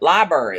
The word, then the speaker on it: library: listen I say pecan the first R is Silent Library like in February surely it's not like in February library in February what no